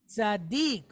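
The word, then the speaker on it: צדיק: Tzaddik, okay? We have the letter tzadi, and it's pointed with patah. So that gives us the sound tza.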